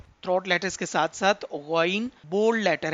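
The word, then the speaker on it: غ: था middle part से, again जो है ये बिल्कुल अपर पार्ट ऑफ थ्रोट से अदा हो रहा है। तो from upper part of throat we can pronounce this letter again.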